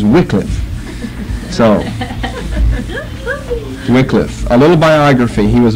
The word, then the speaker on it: Wycliffe: to change it to a wickliff because I was brought up the wrong way with that I need to change some of you folks on Augustine you're brought up Augustine in the dictionary's first pronunciation is Augustine so why can't I change if I was born of Wycliffe but the dictionary's first pronunciation is Wycliffe a little biography he